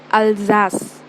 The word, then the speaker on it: Alsace: That is the name of a place, and you pronounce it as Alsace.